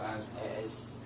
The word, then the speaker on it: asthma: Always S with asthma. It's said like a Z. You say asthma, not asthma. Yeah.